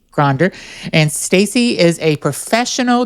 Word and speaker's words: Gonder: Gonder, just like it's spelled. Gonder.